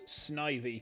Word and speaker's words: Snivy: is um I think I would pronounce that as Snivy because uh Ivy of course being a plant and I mean there's